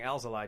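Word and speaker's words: Alzolay: point he mentioned like if you've noticed that we've been saying Al's Ally tonight it's not because we're getting it wrong it's because we like checked with him and it's like odd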